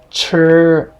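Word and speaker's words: 吃: Chur, this means to eat, very important verb. S is pronounced S in C, so this will be san, means number 3.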